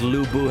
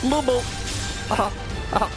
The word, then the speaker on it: Lu Bu: You have to say, like, Lu Bu with a specific intonation, or else you're really just saying, Lu Bu! Lu Bu! Not sounding threatening at all.